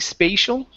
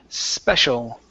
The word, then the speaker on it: special: word uh special now here you used the long long a saying spatial okay so instead of spatial it's special H where me feel